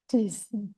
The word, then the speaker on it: Dis: cis foto gitu terus kalau D Cres dibaca Dis dan seterusnya ya kalau F